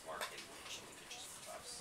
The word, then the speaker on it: Marchetti: It's pronounced Marchetti, which it pitches for us, so that's why I know.